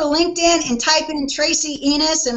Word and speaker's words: Enos: and type in Tracy enus and my last name is spelled like enus Slaughter if you're a Cardinal fan or enus from The Dukes of Hazard e n o s you got me on